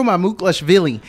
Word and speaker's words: Mamukelashvili: I'd like for you to talk about Sandro Mamukelashvili.